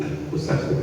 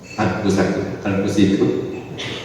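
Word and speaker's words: أنفسكم: Maka kita teringatkan firman Allah, ya ayyuhalladzina amanu qu anfusakum wa ahlikum. Jangan salah bacanya, ya ayyuhalladzina amanu anfusikum, ya ayyuhalladzina amanu qu anfusakum wa ahlikum.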